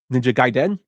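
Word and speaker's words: Ninja Gaiden: on the NES uh I found out how to pronounce it through the 1989 film The Wizard which is ninja gaen and he goes hiya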